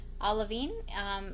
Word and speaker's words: olivine: Olivine is how my Google Assistant told me to pronounce it, so I'm going with that.